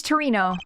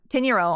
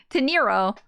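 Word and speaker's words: Teneiro: Miss Torino. Torrio? What's your name? What's your name? Teniro. I've been saying her name wrong. Teniro.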